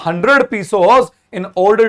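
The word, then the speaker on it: pesos: I need a 100 पीसोस in order to सो my field again.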